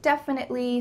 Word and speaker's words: definitely: let's break it down def in it ly death in it ly definitely definitely definitely definitely definitely